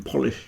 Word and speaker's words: Polish: difficult thing to say so the first part is po not po so it's poish then you got I as a short one with a sh on the end but police you